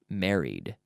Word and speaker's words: married: had gotten or got married married married two syllables married the last thing